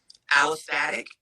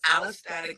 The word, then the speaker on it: allostatic: Allostatic, is that right?